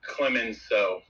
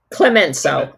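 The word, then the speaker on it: Clemenceau: I just wanted to say that it it's pronounced Clemenso. Clemenso.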